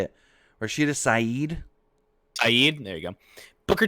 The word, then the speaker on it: Saeed: Rashida Saeed.